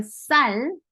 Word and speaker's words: 쌀: So about the double 시옷, when you make a 쌀, there's a 받침 리을. 쌀 is rice.